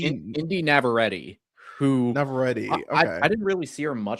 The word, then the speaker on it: Navarrete: Indy Indy Navarrete, who Navarrete.